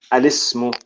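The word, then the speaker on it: الاسم: because it's hamzatul wasl, it's actually pronounced al-ismu and al-ibnu. Al-ismu, al-ibnu. It's like the lam, the alif lam actually has a kasra.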